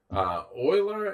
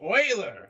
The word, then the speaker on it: Euler: It'd be great if he was like An oil man. An oil man. Euler the Oiler. Euler, yes, founder of the Oilers.